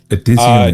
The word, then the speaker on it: Edizioni: I know I'm saying it wrong. Edizioni. Edizioni? Yep. Yeah. Edizione. It's like like edition.